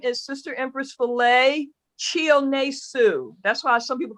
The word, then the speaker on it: Chionesu: me Empress Chi, because it's spelled Chihonesu. So the first 3 letters is Chi. So, but it's Chi. Break it into syllable. Break it into white folk syllables. Chi O Ne Su. And that's pretty much how it's pronounced.